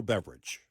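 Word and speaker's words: Beveridge: this thing on Tito Beverage. He's the guy that founded Tito's Vodka. Oh, yeah, in Texas here, right? Yeah. And, yes, his last name is Beverage, spelt differently, but pronounced the same.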